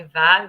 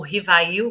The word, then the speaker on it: Rivail: querido Hippolyte Léon Denisard Rivaio, né? Ou Rivail, como a maioria, né, pronuncia, o nosso querido Allan Kardec, codificador da doutrina espírita.